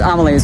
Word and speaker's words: Amelie's: It's not Emily's, it's Amelie's, which is this gorgeous French restaurant.